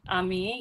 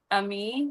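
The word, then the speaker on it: עמי: Ami. Yeah. But it's it's Hebrew. The my people. Ami. Yeah. Ami. Okay. All right. The Lord of hosts is his name. Shalom. Ami.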